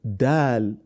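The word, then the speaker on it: دال: must always note that the phonetic sound of Dal and then should not be air not dead or Veil but Dal then Now Pronounce it you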